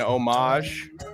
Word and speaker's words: homage: I mean, obviously, for those of you who don't know, Danny is doing an homage, which is the proper way to pronounce that very French word, to my heritage right here.